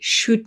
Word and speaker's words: should: But, it's a recommendation for something that we should not do. One more thing about shouldn't and should is that they contain another silent letter, don't they? There is a silent l in there.